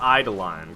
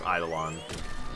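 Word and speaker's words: Eidolon: pretty sure I got eye to line correct I I idle on e-i-d-o-l-o-n I'm pretty sure it's idle on um and then I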